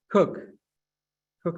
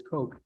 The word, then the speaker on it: Coke: statute of monopolies by Sir Edwin cook I believe is how you pronounce it although Americans would naturally pronounce that as Coke uh in which he